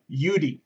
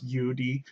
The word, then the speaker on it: YouDe: to be this company UD technology it is pronounced Udi okay it's not y it's not like whatever